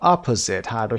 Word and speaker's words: opposite: second syllable number two opposite by your opposite yes first syllable number three teenager teenager